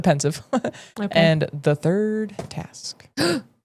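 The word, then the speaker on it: Pensieve: I have to say it like Dumbledore says it, The Pensive.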